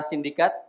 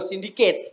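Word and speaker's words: Syndicate: Nah, yang kedua kita sambut juga dari Direktur Para Sindikat Mas Oh, Sindiket bacanya.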